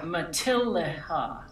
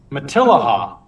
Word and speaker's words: Matilija: Oh, does it tell you how to pronounce it? Yeah, Matilija. Matilija. Matilija.